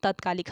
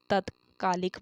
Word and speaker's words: तात्कालिक: तो क्या लिखा जाएगा, तत्कालिक। हम बोलते क्या है, तत्कालिक बोलते हैं, लेकिन जो सही शब्द होता है तात्कालिक होता है।